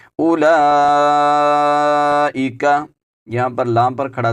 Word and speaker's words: أولئك: والذین آووا ونصروا اولئک، یہاں پر حمزہ کے اوپر پیش ہے، اس کے بعد جو واو آ رہی ہے اس واو کا بھی آپ نے تلفظ نہیں کرنا، یہ واو خالی ہے، اس کو ہم بالکل نہیں پڑھیں گے۔ اولئک، یہاں پر لام